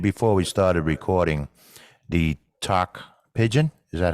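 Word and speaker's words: Tok Pisin: we started recording the talk pigeon is that how you say it yeah yeah so it's talk pigeon it's like t-o-k and then um I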